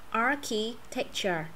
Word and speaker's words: architecture: Architecture. Architecture. Nhìn vậy thôi chứ cũng dễ à. Ngoài cái chuyện là chữ chi ra thì còn lại đọc giống hết mà.